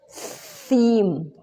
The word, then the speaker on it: theme: man and theme theme it's not the same team if you pronounce he has like if you don't uh show a little bit of your time is now like a team uh you you don't need to show your tongue when you pronounce team team team this is theme theme theme okay ah okay uh one